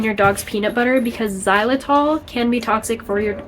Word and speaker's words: Xylitol: for your dogs um it's not spelled the way it sounds it's spelled like X Y zai l i t o l um so do not